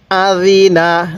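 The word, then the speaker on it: أَذِنَ: Jerry নুন জবর না আজিনা জালটা নরম করে আজিনা কিভাবে পড়বেন বলুন আজিনা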